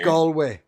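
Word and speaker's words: Galway: the mayor of Galloway it's pronounced gway just to let you yeah yeah gway go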